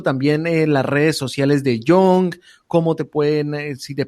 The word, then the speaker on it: Yonge: Young se escribe no como joven, sino como YONGE.